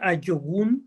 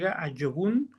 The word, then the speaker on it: ajogun: sí yq es un a yogun se escribe ajogun pero se pronuncia la J como y a yogun se pronuncia como y